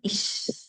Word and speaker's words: ich: It කියලා කියන්න එපා. හරිද? Ish. Okay? Ish. පරිදාවත් it කියන්න එපා. Okay? Ish. Okay? German වලින් අපි say ha can see ish වලට it කියන්නේ නැහැ.